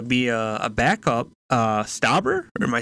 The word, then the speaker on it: Stauber: months ago to be a a backup uh stabber am I saying it right yeah he uh